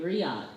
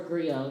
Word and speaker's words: griot: we have a word known as the griot and that or griot depending on how you pronounce it and that is the